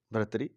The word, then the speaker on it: भर्तृहरि: जो संत हुए हैं बहुत बड़े, भर्तृहरि, जिनको सही उनका उच्चारण है भर्तहरि, भर्तृहरि, उन्होंने किताब लिखी है